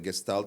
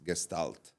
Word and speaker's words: Gestalt: And many of the Gestalt psychology principles are used in design, like graphic design, in branding.